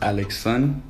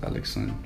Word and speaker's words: Alexandre: So it's pronounced Alexon, which is Alexandre in English. So D-R-E. Wait, is it spelled like A-L-E-X-S-O-N? No, L-A-X-A-N-D-R-E. Oh. Alexandre. But in French, it's just pronounced Alexon.